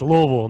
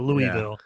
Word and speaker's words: Louisville: learned when we lived there that's how you pronounce it it's louisville not louisville so i took from louisville i took uh